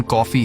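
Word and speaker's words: Coffey: जिस पर जॉन ने कहा कि मेरा नाम जॉन कॉफी है पीने वाली कॉफी। लेकिन स्पेलिंग थोड़ी अलग है।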